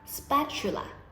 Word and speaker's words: spatula: lotion คนไทยเรียกว่า lotion แต่ถ้าเรากดเสียงต่ำลงจะเป็น lotion ศัพท์หมวดถัดมานะคะก็คือในห้องครัวนั่นเอง first spatula ชูอ่านออกเสียงชูตรงกลางนะคะ spatula ก็คือตะหลิวนั่นเอง frying pan กระทะนั่นเอง a chopping board ม้วนลิ้นตัว